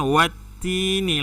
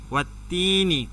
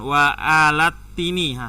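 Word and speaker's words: والتين: Jadi alif dan lam ini tidak dibaca, ya. Jadi bacanya watini langsung, watini. Jadi bukan wa alatini, salah. Karena alif dan lam tidak ada barisnya. Jadi kalau tak ada baris tak usah dibaca.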